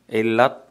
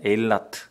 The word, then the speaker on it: 에일라트: 에일랏, 엘란, 뭐 영어식 발음 엘란이라고 하고 에일라트.